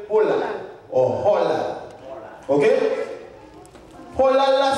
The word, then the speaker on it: halal: Il y a des gens qui prononcent halal, mais hébreu prononce Holal.